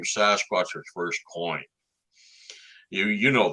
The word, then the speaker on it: Sasquatch: The best way to think of it is take the word basket, drop the B, and add SAS to it.